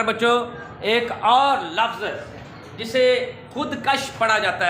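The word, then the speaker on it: خودکش: आपने सुना होगा खुदकुश धमाका, ये खुदकुश ही है वर्ड, खुदकश नहीं होता।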